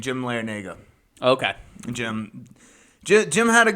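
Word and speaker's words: Larrañaga: just like oh I figured out how to pronounce that the coach's name Jim larenago okay Jim Jim had a good run with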